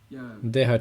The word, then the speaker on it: Deha: Deha, Chitta. On écrit avec un H. D-E-H-A. Mais en espagnol, on écrirait Dehe, Jota, Ha. Ok, je comprends. C'est juste pour clarifier la prononciation.